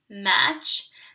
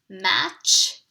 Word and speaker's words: match: see here mmm H match the reason why the T is an underlined is because there's it's silence you do not hear the T word if you listen carefully mm-hmm H match the T is silent